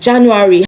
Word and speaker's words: Januar: So it is Januar. Januar, not Januar. Of course, it starts with letter J, but then it is not pronounced Januar because J in German does not sound J in words. It sounds Y, okay?